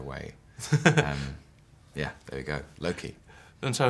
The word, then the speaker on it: Loki: How are you pronouncing your character's name? Loki.